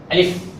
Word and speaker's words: আলিফ: সুন্দর নাম আছে আবার বলা শেষ আপনাদের শুরু আলিফ আলিফ এই হরফটি উচ্চারণের স্থান হচ্ছে নিচের ঠোঁটের পেয়ার সামনের উপরে